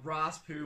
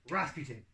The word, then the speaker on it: Rasputin: dude that was a raw spoon bubble doesn't have in that time no you didn't say it right oh it's gonna be Rasputin oh good job see